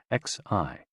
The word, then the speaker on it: xi: H O pronounced like h which is associated with the spleen and xi pronounced like she which connects the whole body.